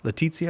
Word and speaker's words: Laetitia: This is what you hear: the worst parts of Amoris Laetitia and stuff like that, or not Letitia. Letitia. Letizia. Is that how you say it? That's how I say it.